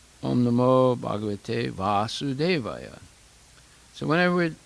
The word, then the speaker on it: Vasudeva: And whenever it's pronounced Vasudeva with the short A, that means the father of Krishna.